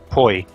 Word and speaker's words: poi: Poi. P-O-I is how you spell it, and pronounced like boy, I guess.